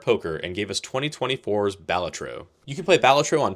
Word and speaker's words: Balatro: I played on Steam Deck and Android, and after 44 hours in game, here's my review of Balatro. And yes, that is how it's pronounced.